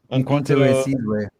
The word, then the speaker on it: Umkhonto we Sizwe: Oh wait, you can help me pronounce that. Umkhonto we Sizwe.